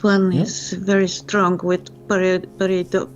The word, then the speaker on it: pareidolia: This one is very strong with pareidolia. How pronounce pareidolia? Pareidolia.